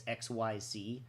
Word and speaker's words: Xyz: It's XYZ is the name of it, Xyz, and that's generally how you pronounce it.